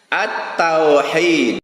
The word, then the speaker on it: التوحيد: Nah, perhatikan cara bacanya. At-tauhid bacanya.